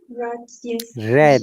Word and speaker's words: read: read read remember those their spelling is same but it should sound red in past tense yeah red yeah read